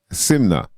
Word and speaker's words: SYMNNKNA: n k n a simna you know the K is silent when you use proper English then and you get